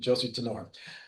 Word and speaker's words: Tenore: Josie Tanor. I earlier I gave Italian pronunciation, so I'm going to now go to the American pronunciation. Josie Tenor, founder and medical director